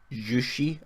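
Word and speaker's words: Juche: So when we look up what this jushi, I think as is pronounced, we look into it and we see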